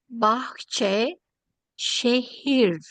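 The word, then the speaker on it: Bahçeşehir: That's May I ask you, may I tell you, it is pronounced Bahçe, Şehir, Şehir Üniversitesi.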